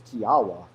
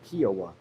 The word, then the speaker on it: Kiowa: And then when she got the cat from the shelter, they said her name was Kiawa, but it's spelled Kiowa. So if you are a Kiowa, don't worry, we're not going to call you Kiawa.